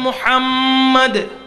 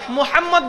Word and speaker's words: মুহাম্মদ: মুহাম্মদ বলতে মিম উচ্চারণ হলে এই ঠোঁট দুটো লাগতেছে, ঠিক কিনা? এই ঠোঁটে মুহাব্বতের সাথে ঠোঁটে লেগে তারপরেই মুহাম্মদ বের হচ্ছে, বলেন না সুবহানাল্লাহ।